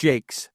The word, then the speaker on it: Jaques: before we started recording, I asked you, it's pronounced Jaques, and you said, yeah, that's how I do it.